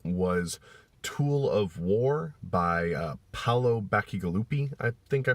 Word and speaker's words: Paolo Bacigalupi: it after that was tool of war by Paolo Bacigalupi I think I pronounced his name right I really enjoyed it